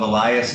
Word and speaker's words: Elias: First of all, you are the mother of, is it Elias? Is that how you pronounce it? Okay. Yes. Of Elias, you're the mother, is that correct?